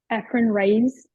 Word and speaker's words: Efren Reyes: Efren Reyes.